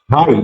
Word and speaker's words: high: হাই, HIGH, এখানে HI, আই এর মতো উচ্চারণ হয়েছে হাই, অর্থাৎ IGH উচ্চারণ আই এর মতো উচ্চারণ হবে হাই।